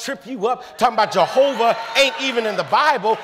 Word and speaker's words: Jehovah: the name tetragrammatown yhwh took the vowels a o and a and inserted them into Yahweh so why a h o w a h sound it out Jehovah yahuwah you know what